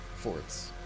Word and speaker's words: forte: for Amaterasu that have forts. Fortes as well. Forts. Sorry, genuinely, I had a professor in college who was such an asshole, and she was like, "It's actually pronounced fort." And if we pronounce it well, forte around asshole.